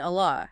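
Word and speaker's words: الله: Because of that kasra on the meme, the lam in Allah has to be pronounced softly. Liana ma kabla maksur. Because what precedes it has a kasra. Interesting. So it's not a heavy L sound.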